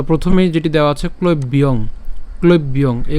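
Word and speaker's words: ক্লৈব্যং: তো প্রথমেই যেটি দেওয়া আছে ক্লব্যং, ক্লব্যং এই উচ্চারণটির ক্ষেত্রে আমরা যেটা করলাম সেটা হচ্ছে ক্লব্যং, অর্থাৎ এখানে ক ল এবং ঐকার ব পর্যন্ত উচ্চারণ করছি, তাহলে ক্লৈব।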